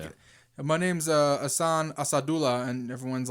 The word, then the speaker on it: Asadullah: I Well, know, his teammates are calling him Asajula. right, but like I feel like sometimes players with a somewhat hard to pronounce name or like non-traditional names sort of just let everyone say their name wrong because it's easier than saying no, it's actually Asadullah or something like that.